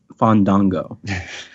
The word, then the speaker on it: Fandango: there's I think uh I think over there it's pronounced fond Dongo thank you for your